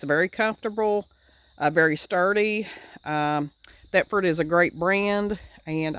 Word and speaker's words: Thetford: This is a Stepford. This right here. This is a, yeah. Can you see that? It's a Thetford. How do you say that? Thetford? Yeah, Thetford porta potty.